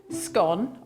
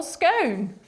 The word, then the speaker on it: scone: put the record straight according to the oxford english dictionary the two pronunciations of scone are both correct either to rhyme with cone or gone differences divide people they